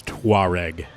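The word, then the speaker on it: Touareg: to pronounce this word it's t o u a r e g and car fans are going to know how to say it it's tware tware yes is the word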